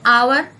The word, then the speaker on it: hour: She took an hour to get ready for school. Here, H is not vowel, but it sounds vowel.